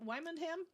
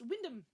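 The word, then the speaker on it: Wymondham: Uh, and there's a town in Norfolk written, uh, Wimondham. Wyundam. Oh, pronounced Windham. Okay.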